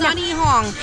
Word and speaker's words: Sunhe Hong: Sun like up there, S-U-N. He like boy, H-E. Hong like Hong Kong.